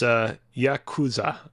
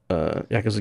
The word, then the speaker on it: Yakuza: It is Yakuza.